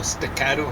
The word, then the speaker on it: staccato: Well, it's actually staccato in Italian, something like that. Well, it actually has two T sounds, and then really, strictly speaking, two K sounds.